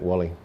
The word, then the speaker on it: Volly: Now I say Volly, and I've always said Volly, but it's actually Wally. Is you saying it like the German pronunciation of V, Wally, or am I pronouncing it just wrong in saying Volly? How is it spelt? It's spelt, yeah. Well, Voldemar. His name was spelt V-O-L-L-Y, but they're V's or W's. That's right. So in fact, Wally. But most of his friends called him Volly.